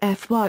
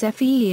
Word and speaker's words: Phi: FI pronounced FY or sometimes FE in English and EI in modern Greek is the 21st letter of the Greek alphabet.